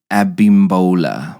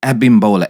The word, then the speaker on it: Abimbola: from Nigeria and it's abimbola mouthful abimbola a b i m b o l a abimbola well I hope I'm saying it right and what that means